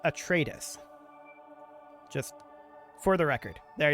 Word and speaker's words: Atreides: It is pronounced Atreides.